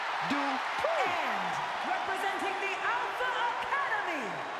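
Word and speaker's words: Dupri: Michael, it's pronounced Dupree. And representing the Alpha Academy from Phoenix, Arizona, Maxine Dupree.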